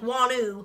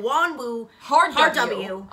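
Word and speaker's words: Wonwoo: Koreans say it like wanu then we'd be like doing something wrong so then we were saying Wan wo W there is not a w in the middle it's wanu and we didn't know that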